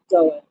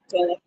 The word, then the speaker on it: Gullah: Um, and they have the Gula Fest. Did I say it right? No, Gullah. Gullah.